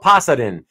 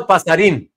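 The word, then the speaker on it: Pasarín: Yeah, because in Spanish, the accent tells you which syllable to emphasize more. So since the accent there on the I is on the last syllable, that means you emphasize the in part.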